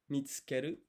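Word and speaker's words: 見つける: To find is mitsukeru. So even though there's like a U here, you don't pronounce it. Mitsukeru.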